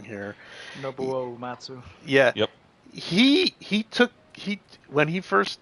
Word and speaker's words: Nobuo Uematsu: Ubu Naminatsu.